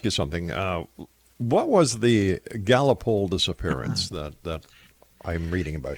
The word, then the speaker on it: Gallipoli: What was the Gallipoli disappearance that I'm reading about here?